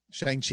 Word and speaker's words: Shang-Chi: Now that's why I'm so happy that Marvel is doing this this movie coming out, Shang-Chi. Am I saying it right? Shang-Chi, yeah.